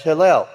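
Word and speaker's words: הילל: That's Hillel. It has nothing to do with Hallelujah, Yahweh, or Halal, or anything else. It's Hillel. It is spelled, as you'll notice, Hey, Yod, Lamed, Lamed.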